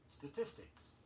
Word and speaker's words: statistics: Be sure you get in all the syllables in the sounds. Statistics, S-T-A-T-I-S-T-I-C-S, and statistician, S-T-A-T-I-S-T-I-C-I-A-N.